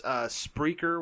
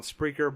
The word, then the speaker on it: Spreaker: Essentially, it's Spreaker, which spell it just how it sounds.